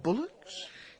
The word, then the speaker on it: bulwarks: Bullocks? That's spelt bulwarks. Dennis. But that's pronounced bullocks.